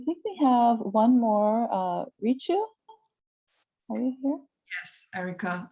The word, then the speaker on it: Richu: I'm Richu. It's Rich with the U. I know a lot of folks actually pronounce it as Rishu or Riku.